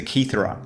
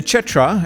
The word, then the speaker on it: Cetra: The Cetra, and I'm just going with the Italian pronunciation here, is interesting for completely different reasons.